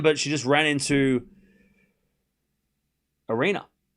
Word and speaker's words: Aryna: beats Goff, beats uh Andra semi-final again at a slam, but she just ran into Arena, which rhymes with Serena.